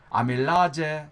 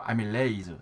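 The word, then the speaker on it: amylase: 아밀라제 그러잖아요. 아밀라제. 그래서 이거 독일 같은 데서 들어왔기 때문에 자 이걸 갖다가 그대로 그냥 지금도 이제 아제라고 읽지만은 사실은 여기다가 하면 에밀레이즈. 자 그렇게 해야 되겠죠. 아밀라제가 아니고 아밀레이즈.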